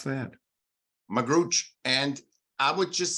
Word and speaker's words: Magrutsche: your last name is m-a-g-r-u-t-s-c-h-e how did you pronounce that magrooch and I would just say forget my last